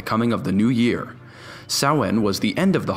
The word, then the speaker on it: Samhain: ancient Celtic Festival that spelled like Samhain but pronounced like saw in the Celts celebrated the festival on November 1st to signify the coming of the new year soin was the end of